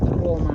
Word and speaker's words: Roma: In Italian pronunciation is Roma.